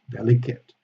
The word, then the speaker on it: delicate: the summit delegates delicate delicate is only an adjective you don't have the verb here so delicate is always with a schwa delicate that's print the same